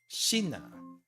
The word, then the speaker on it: 品: I guess hin is fine, but there's another pronunciation for this for some reason. 品 Shina.